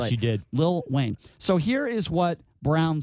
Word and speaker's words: Lil Wayne: See, I pronounced it right. Yes, you did. Lil Wayne.